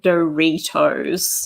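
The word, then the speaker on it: Doritos: good point there that it's pronounced doe retos there you go if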